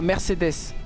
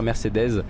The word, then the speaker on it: Mercedes: allez arrêter de me casser la tête voilà Mercedes sauf que moi je suis alsacien je suis